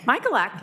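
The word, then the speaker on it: Michalak: Michaelak. Am I close? Michaelak. Michaelak, you got it. Okay, all right. Rhymes with Cadillac.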